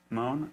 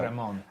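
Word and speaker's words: Remon: And so I thought it was like Ray instead of like Ra. Ramon, and then, but I think it is more of like a, Ramon.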